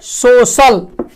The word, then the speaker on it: social: जैसे सोशल है ना, जैसे हम लोग लिखते हैं सोशल, SOCIAL, यही लिखते हैं।